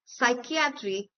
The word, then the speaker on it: psychiatry: For example, we have the most famous words psychology, psychiatry, etc. where the initial P sound is ignored and is pronounced as the word starting with a S.